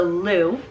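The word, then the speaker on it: Lugh: hoping i'm pronouncing right l-u-g-h so lou hope i'm pronouncing that right is actually the sun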